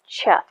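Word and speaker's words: ח: the eighth letter is cheth or chet depending on how you um pronounce it and it deals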